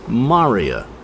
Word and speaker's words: maria: the plural form is Maria spelled like the name but pronounced differently m a r i a Maria and these are